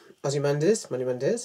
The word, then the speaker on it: Ozymandias: This could be like, spoiler moment, if you've not seen Watchmen, the way that in Watchmen, Ozymandias, that's how you say his name, tries to unite the world by doing a great crime.